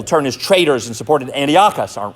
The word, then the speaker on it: Antiochus: Even leading priests in the temple turned as traitors and supported Antiochus, or Antiochus, sometimes it's pronounced.